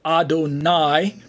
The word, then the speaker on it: Adonai: side of the screen we have Adonai pronounced as Adon plus I and it's a uh